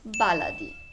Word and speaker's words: baladi: with the name itself we often see and hear two different pronunciations the first one is baladi b-a-l-a-d-i and the second one is bellady b e l e d i getting to the point both of them are correct it's just the case of using a modern standard arabic pronunciation which is baladi and the egyptian dialect